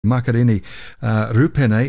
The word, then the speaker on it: Makarini Rupene: Makarini Rupene. Have I pronounced that right, Makarini?